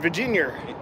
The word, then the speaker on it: Virginia: How you say it, in Virginia. What? No R at the end.